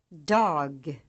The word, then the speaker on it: Dag: Refer to this list as you learn units 1 through 4 to make sure you are pronouncing these words right. Examples: written, Jag. spoken, Ja. Det. Det. Dag.